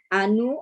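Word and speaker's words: Ainu: are and family life with anu i think it is pronounced people who inhabited in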